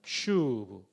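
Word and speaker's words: שׁוּב: 슈브. 여러분 거의 신대원 수준으로 발음해 주셔서 고맙습니다.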